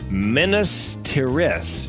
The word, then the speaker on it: Minas Tirith: Look no further than, and I had to look up the pronunciation, Minas Tirith.